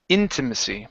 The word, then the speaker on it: intimacy: And our last word here is intimacy. Our stress is at the very beginning.